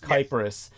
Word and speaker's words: Cyprus: The actual Greek word is with a K, and it's pronounced Kypros.